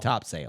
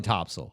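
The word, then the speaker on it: Topsail: Florida well interesting cuz 99% of people are going to say top sale yeah no definitely topso okay I thought I'd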